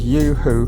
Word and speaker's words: UHU: It's called Yoo-hoo, which is spelled U-H-U glue.